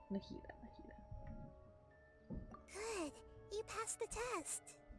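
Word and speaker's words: Nahida: yeah I'm Nita and I've been saying her name wrong Nita good you passed the test what's happening you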